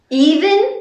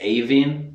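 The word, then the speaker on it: Aoibhinn: Even? Even. Even. Yeah, like Even Steven. Ah. Even, but yeah, a lot of people in Ireland pronounce it Aveen, but the actual pronunciation in Irish is Even.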